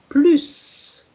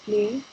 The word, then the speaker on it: plus: When plus is positive, meaning there is more, okay, something in addition, so it's positive, then you have, in addition, the S sound at the end.